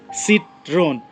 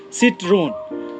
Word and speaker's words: Citroën: it's a I mean the way French people pronounce it I'm sure it's a little different you can hear it